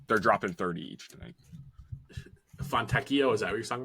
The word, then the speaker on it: Fontecchio: Fontecchio, is that what you're talking about? What? Fontecchio? Yes, Fontecchio.